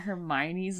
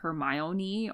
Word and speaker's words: Hermione: I didn't realize that Hermione's name was Hermione I always in my head I thought it was like hermoni or like I didn't I